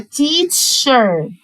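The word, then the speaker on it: teacher: السي اتش انطقها تش، يبقى تيتش تيتش، والاي ار بنطقها ار، يبقى تيتشر.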